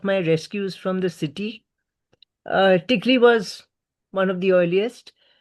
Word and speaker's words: Tikli: Tikli.